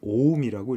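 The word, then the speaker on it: 옴: 그리스 알파벳 중에 오메가라고 하는 놈이고 우리는 이걸 어떻게 읽냐면 오음이라고 읽어요.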